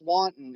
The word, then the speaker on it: wanton: Wonton Nice. is an. It's not pronounced wonton, but it's wanton.